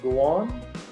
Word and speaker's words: Doan: Doan.